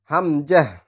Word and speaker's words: হামজা: same একই রকম কিন্তু হামজার উচ্চারণ হয় গলার শুরু থেকে মানে এই হা যেখান